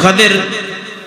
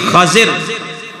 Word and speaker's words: خضر: ہے نا خضر ادھے دو تلفظ بیان کیتے نے پہلا خا دے اوپر زبر اور ذات دے نیچے زیر خضر اور دوسرا تلفظ خا دے نیچے زیر اور جڑا ذات دے ادھے اوتے جزم سکون والا خضر اور صحیح البخاری اندر